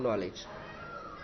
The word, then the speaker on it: knowledge: नॉलेज तो लिखना है, नॉलेज के एन से शुरुआत करनी है, पूरा स्पेलिंग लिखना है लेकिन बोलेंगे हम नॉलेज।